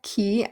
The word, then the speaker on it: qui: So remember, this is the key that we saw earlier, like avec key, and it sounds like a key that you put in your door to lock and unlock it, but it's spelled Q-U-I, and it means who.